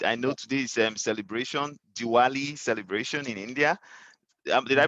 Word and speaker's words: Diwali: your time and I know today's um celebration Diwali celebration in India did I pronounce that right Diwali it's Diwali yeah Diwali so please enjoy your